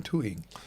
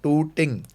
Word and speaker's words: Tooting: Yeah, I want to get some water in tooting. yeah. So but because Indian Pakistan, we have to pronounce our tars right. That tooting.